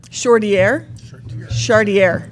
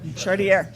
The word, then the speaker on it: Chartier: I hope I've pronounced that correctly, Miss Chartier. Our Lake City students, do they know? Yes. Say it again. Chartier. Chartier.